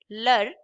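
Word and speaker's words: leurs: And again S at the end is silent. So the pronunciation will be same. Lur uh in the plural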